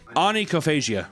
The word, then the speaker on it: onychophagia: Onychophagia.